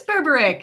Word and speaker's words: Berberich: Is it Berberich? It is Berberich.